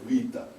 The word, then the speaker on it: beta: it beta and then greeks they don't pronounce our beta is v for them so the greek greeks in america call it vita i'm calling it better as we learn in school so 7